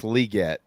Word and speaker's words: Legette: the second and he he says his last name is actually pronounced legat so uh but I